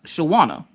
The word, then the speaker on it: Shawana: I'm like, you say it exactly how it looks. Shawana. Like, Shawana. And then I remembered that she was working on a Michael Jackson painting, and I went, just say it like Michael Jackson.